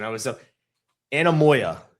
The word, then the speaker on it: Anemoia: to like a certain time, it's called ana- anemonia? Ana- anen- anen- hold on. Hold on. I'm like I dude, I had to look up the pronunciation. I was so Anemoia. Anemoia.